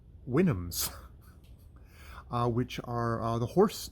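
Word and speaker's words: Houyhnhnms: the wynnums which uh there's the how it's pronounced how it's said and then how it's theoretically pronounced winnums which i would have not known if i hadn't looked uh in the back of uh the oxford oxford uh edition that i have and it has has helpful notes and apparently that is pronounced winams uh which are the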